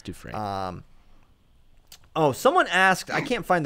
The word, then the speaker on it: Dufresne: Look, Andy Dufresne did it. El Chapo can do Isn't it Dufresne?